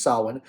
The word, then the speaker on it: Samhain: to this kind of ancient Celtic Festival named Sawan it's spelled Sam hate as you can see but it's not pronounced Sam hey and it's pronounced Salin and that's because the Irish language many Celtic